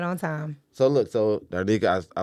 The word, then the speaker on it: Darnetha: No, I'm you like, saying it right, Darnetha.